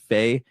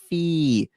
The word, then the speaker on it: Fe: My number 6 is Faye, and I absolutely hate how people always want to correct me when I talk about this game. They go, it's pronounced Fee.